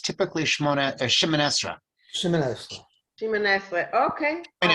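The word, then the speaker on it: שמונה עשרה: It's pronounced Shimon Esra, and you'll hear it also the way Molly Pecan sings it. She'll say Shimon Esra. It's, of course, in Hebrew, it's Shmona Esra.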